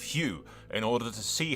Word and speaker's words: Hugh: and his Abomination children a name which I have purposely mispronounced as Hugo instead of Hugh in order to see